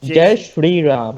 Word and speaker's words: Jai Shri Ram: Jai Shri Ram.